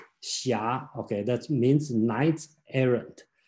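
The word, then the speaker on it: xia: one called shia again this book spells a very strange spelling called h s i h something like that is the pronounce the correct spelling in today should be x i a shia okay that means knight's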